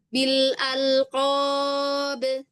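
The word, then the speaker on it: بالألقاب: Bukan bil alq tapi bil alqab.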